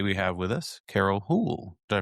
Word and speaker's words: Houle: And today we have with us Carol Hool. Did I pronounce that right? Hool.